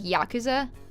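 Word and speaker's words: ヤクザ: he has a good yakuza which is technically right but it's more supposed to because since japanese is really weird they don't put emphasis on syllables it should be more like yakuza but i don't know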